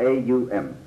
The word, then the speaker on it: Om: is the Sanskrit word Om. And Om is spelled out A-U-M, because it takes in Aum, the range of the voice from the back of the throat to the lips.